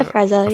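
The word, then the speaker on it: Afrezza: A Freza, yeah.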